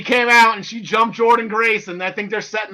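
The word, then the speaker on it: Jordynne Grace: I thought it was Jordana, the way it was spelled, but it's Jordan Grace.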